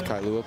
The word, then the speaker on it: Kailua: I don't want to botch the pronunciation, but I believe it's Kailua Park. You did it right.